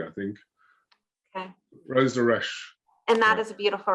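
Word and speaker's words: Rose de Rescht: I'm going to get Rose de Rochette. Whenever you have to look at your phone, I know. All right, Rose de Reche. Reche. Okay, so it's just Reche, Rose de Reche, not the T.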